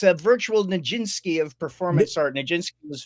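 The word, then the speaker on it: Nijinsky: we have one um and it's a virtual ninski of performance art nin was famous dancer from the early Cur I did say it correctly ninski I did I did I did okay K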